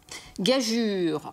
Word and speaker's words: gageure: Gageure. Alors gageure, la prononciation est bien en U, hein, contrairement à ce qu'on peut entendre parfois chez les personnes dans la vie courante.